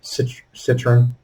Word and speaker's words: Citroën: pronounce that name as far as i'm aware citroen but i mean who knows french probably pronounce it different they're french oh there